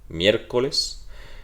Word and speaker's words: miércoles: Miércoles es drújula, se marca y se va a marcar sobre la E, porque recuerden que esta es una I y la I suena como una deslizada, suena como una ya, miércoles.